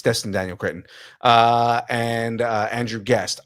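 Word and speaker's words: Destin Daniel Cretton: I say it wrong thought it was Daniel D Destin Daniel oh you know what it is Dustin Daniel Kinton I'm saying it wrong it's Dustin Daniel Kinton uh and uh Andrew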